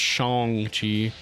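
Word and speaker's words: Shang-Chi: a point about that in the movie It's pronounced Shong Chi uh it reminds me of the whole a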